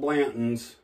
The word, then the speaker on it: Blanton's: Now, everybody talks about Blanton. I gotta have me a horsey. It's spelled Blanton's.